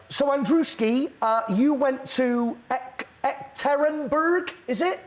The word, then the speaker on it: Yekaterinburg: So, Andrewski, you went to Ekaterinburg, is it? How was that for pronunciation? Yekaterinburg.